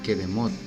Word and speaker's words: Kedemot: Cademot en hebreo se pronuncia Kedemot, y este significa principios, comienzos, lugares antiguos y lugares orientales.